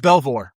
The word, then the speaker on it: Belvoir: How do you pronounce this base? Is it Belvoir? Uh, Fort Belvour. Belvor.